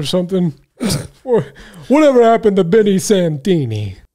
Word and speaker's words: Santini: Oh, no. Santini. I don't know how you say it. Santana. Oh, Santini. How do you say that? Santini, Ryan. Oh, Santini. What did I say? Santana? I don't know. I was thinking Spanish.